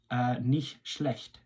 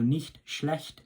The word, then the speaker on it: nicht schlecht: earlier on just to see if you can get that CH pronunciation on point. So nicht schlecht means not bad.